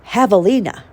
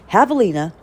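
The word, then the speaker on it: javelina: like a javelin so the J is silent because it's a Spanish Havalina okay it's a wild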